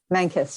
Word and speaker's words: Mankes: Did I pronounce that right? Manus.